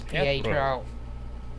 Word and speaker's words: Pietro: Yes, it's Pietro.